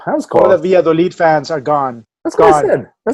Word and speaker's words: Valladolid: I would say probably one of the games of the week or weekend is Atletico Madrid versus Real Valladolid. Is that how you pronounce it? Uh, Valladolid.